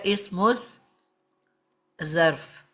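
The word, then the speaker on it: اسم الظرف: पे शद्दा नहीं होएगी, क्योंकि जो ज़ा है ये शमसी हरूफ में है, इस पे शद्दा है, इसकी 2 दफ़ा साउंड होती है। तो इस मुज, और जो शमसी हरूफ है उसमें अल साइलेंट होता है, इसको पढ़ा नहीं जाता। डायरेक्ट मीम को हम ज़ा से मिला देंगे और बन जाएगा इस मुज ज़र्फ।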